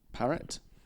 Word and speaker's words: Parrott: So we've got, forgive me if I don't actually say this correctly, James Parrott. I think that's how you pronounce it, yeah. It's Parrett.